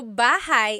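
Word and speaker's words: bahay: Shir said I always make a mistake with bah and so bahigh is house buhai is your life.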